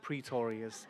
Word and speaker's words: Pretorius: pronounce my last name but it's like notorious just pretorius I am not the